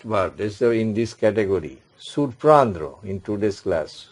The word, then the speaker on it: surprendre: And another last verb is in this category, surprendre in today's class. Surprendre.